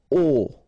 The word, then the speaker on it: au: Okay, so a plus le will become o, like that. You write it au, you pronounce it o.